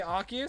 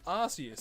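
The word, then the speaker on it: Arceus: Yeah, some people some people say Archus, some people say Arus. That was an official Pokemon thing that came out and I think they were like, "No, it's pronounced Asus."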